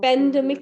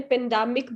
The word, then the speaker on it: pandemic: पेंडेमिक की pronunciation गलत थी, आपने पेंडामिक बोला था. Yes, पेंडामिक, पेंडामिक नहीं है, पेंडेमिक.